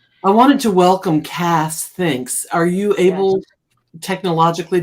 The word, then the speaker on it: Kas: I wanted to ask you, how do you pronounce that K-A-S? It's Cass. Oh, it is Cass. Okay. Yes, Okay. but Chandra has been calling me Kaz for so long, and I've come to like it.